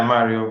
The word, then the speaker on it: Mário: dee how are you i'm gonna let you pronounce your last name so the first name is mario technically correct yeah mario but uh yeah i decided to put marvy